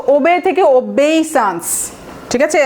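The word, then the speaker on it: obeisance: সো ওবে থেকে ওবেইসান্স, ঠিক আছে, আমার উচ্চারণটা দেখবেন, ওবেইসান্স, ওবেইসান্স, SAANCE, এটা হচ্ছে নাউন।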